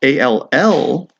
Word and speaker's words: all: But A-L-L actually makes the sound, is actually the word all. Now this is worth remembering, all, because you get a bunch of words that rhyme with it and are spelled the same way, such as ball, call, fall.